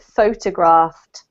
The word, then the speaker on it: photographed: This is a difficult verb because yes, we can have photograph, we can have photographer, but in this case, because it's the verb, we pronounce it photographed.